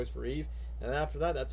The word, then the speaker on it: EVE: okay never mind but even as a kid I know her name is pronounced Eve cuz huh get it Adam and Eve just like in the Bible but Wally pronounced it as Eva so I thought it